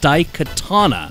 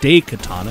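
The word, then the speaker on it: Daikatana: Romero's much hyped bomb was called D Katana and not day Katana as so many would have you believe yes I know it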